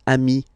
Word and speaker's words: amis: So singular form ami, plural form you add this S, but it's ami as well.